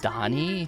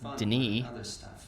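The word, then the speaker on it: D'ni: It's called Donnie. Taught you. I've been saying it wrong the whole time. I thought it was just Den.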